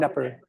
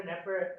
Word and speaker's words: Knepper: Is the K silent in your name? It is silent, yes. So, Dr. Knepper. Dr. Knepper comes to us from a local company that does agricultural robotics called Tortuga AgTech.